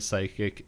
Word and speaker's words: psychic: prohibited no cods accepted the letter P and the word psychic is silent and used uh for entertainment purposes only